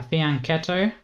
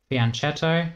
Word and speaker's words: fianchetto: And lastly a fianchetto, fiachetto depending on... people say, people can say it either way is when we